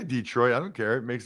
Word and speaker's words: Detroit: to them is that the emphasis on the second syllable like Detroit not Detroit you know what I mean Detroit whether you say whether you say Detroit or Detroit it's Detroit that is where the emphasis should be placed the bills by the